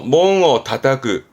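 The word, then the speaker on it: 門を叩く: 혼자 뒀을 때도 발음은 몽하거든요. 출입구를 의미하게 되죠, 보통은. 그러다가 관용적으로 몽어 다타크, 다타크라는 건 두드리다.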